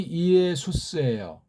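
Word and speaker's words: Ἰησοῦς: 모음이 연속하면 이중모음이라고 해놓지 않은 다음에 따로따로 구별해서 발음을 해야 되기 때문에 그렇습니다.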